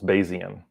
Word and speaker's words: Bayesian: So 3 syllables, Bayesian.